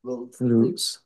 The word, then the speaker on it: Lutz: Loots. How do you say it? Loots.